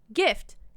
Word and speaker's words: GIF: me tell you buddy every word that starts with g then a vowel then an f is pronounced with a hard g want some examples i have plenty of plenty of examples gaffy gift guff guffa moreover most